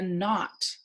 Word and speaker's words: knot: Or Matt has a knot, like in not, K-N, in his shoelaces.